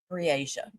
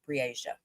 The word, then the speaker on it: Breasia: Briasia. See, I wanted to pronounce it right and I couldn't remember which way they're pronouncing it. Briasia.